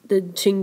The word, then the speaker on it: Qing: The Qing dynasty, spelled with a Q.